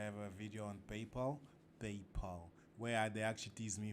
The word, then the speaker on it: PayPal: a video on paypal paypal where they actually tease me for not knowing how to pronounce in people they say i pronounced papil with an il at the end paypal paypal whatever but no i don't